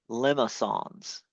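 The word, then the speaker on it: limaçon: Now, these are called limma songs. All right? It's kind of a French term. Sometimes there's an accent on the C. Um, but it's like a lemon and then song.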